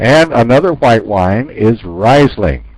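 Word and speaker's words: Riesling: famous for risling okay sometimes we can pronounce this word a little different than I do and we say it reasing right so I usually I'm reasing is probably more used than risling but I don't know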